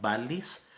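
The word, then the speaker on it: vallis: a l l i s de Valle se pronuncia valis valis lacrimosa que significa el Valle del llanto a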